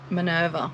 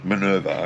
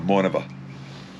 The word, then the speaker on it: Minerva: the brochure was this um how do you pronounce it minerva minerva okay yeah i pronounced it uh minova but you know tomatoes tomatoes so um and